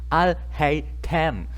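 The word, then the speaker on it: Alhaitham: No es tan difícil, es Al-Haytham. Al-Haytham, así es simple, no es tan complicado.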